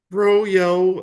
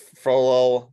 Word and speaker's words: Frollo: You could say it like it's a frozen yogurt. Froyo or Frollo. Yeah, it's Frollo, but yes, I'm sure he loved his Frollo.